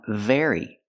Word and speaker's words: very: The B makes a closed sound, berry, and the V makes a vibration sound, very. But the rest of the word is exactly the same.